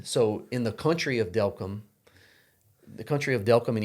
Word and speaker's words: Delcambre: And Delcambre you know, sounds like welcome. Delcambre welcome.